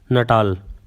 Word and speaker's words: Natal: So that is how it is pronounced, Natal.